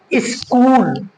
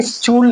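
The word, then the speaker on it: school: H silent होता है for example आप देख सकते हैं स्कूल है ना एच है सी और एच मिला कर के हम चा बोलते हैं ना क्या बोलते हैं च लेकिन हम बोलेंगे क्या यहां यहां सिर्फ सी ही सी को हम का बोलेंगे क्योंकि एच हमारा जो है ये साइलेंट है सी के बाद आया है सो हमारा एच जो है साइलेंट हुआ तो क्या बोलेंगे स्कूल बोलेंगे स्टूल नहीं बोलेंगे ऐसे ही हमारा सी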